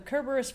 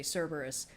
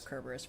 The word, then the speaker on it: Kerberus: So the the Kerberus versus Cberus thing. Um there's no soft C in ancient Greek. Uh anything that's written with a C was pronounced with a K.